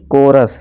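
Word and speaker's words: chorus: character ठीक है दोस्तों कोरस चौरस नहीं कोरस ठीक है दोस्तों दोस्तों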